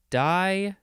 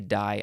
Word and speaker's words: di: this is a prefix so you probably pronounce it um Dai usually die I think yeah it is